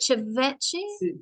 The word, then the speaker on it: ceviche: How do I pronounce it? Ceviche?